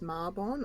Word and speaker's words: Mabon: goals so that's a little bit about um mabon or marbonne apparently it's pronounced marbonne i've already i've always said maybe it just